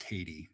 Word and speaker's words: Tatey: Yeah, so just to say, his last name is pronounced Tatey, Matt Tatey. Oh, Tatey.